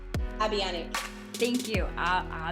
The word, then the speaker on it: Abianac: oh i'm gonna say your na your last name wrong tell me cat say your last name abiani thank you uh avionic um she's a business coach uh she helps